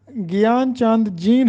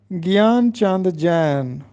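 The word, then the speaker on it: گیان چند جین: تھا، امراؤ جان ادا۔ اسی طرح گیان چاند جین ہم پڑھتے ہیں، جبکہ درست تلفظ ہے گیان چاند جین۔ السلام علیکم عزیز طلبہ،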